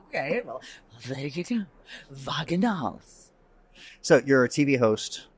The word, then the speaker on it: Wagenhals: It sounds like wagon halls. Right. But it's not spelled that way. No. Wagenhals. Well, I guess the German way would be Wagenhals.